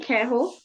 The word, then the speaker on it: queijo: So pão de J, queijo, yes, this one is pronounced as ho.